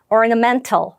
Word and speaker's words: ornamental: 넘어가 볼게요 이번에는네 8번 강세가 여기 있습니다 ornamental이라고 발음해요 같이 한번 해 볼까요 ornamental 한번 더 해 볼게요